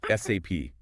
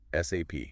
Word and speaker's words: SAP: SAP. It's an ERP system. Enterprise resource planning. Helping businesses plan and manage their resources effectively. And crucially, always spell it out. SAP. Don't say SAP.